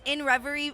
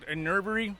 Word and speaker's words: Inrvry: Amazon music uh hand uh our handle at in Ry it's pron it's spelled different I it's spelled like this i